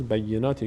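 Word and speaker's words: بَيِّنَات: این کلمه مشاهده میشه خیلی از بینندگان در تلفظ بینات یه کمی روی تشدید مشکل دارن دو بار یا تلفظ میشه دو بار یک بار به همراه با بی یک بار خودش به همراه کسری که داره بیناتی مریم البیناتی وتی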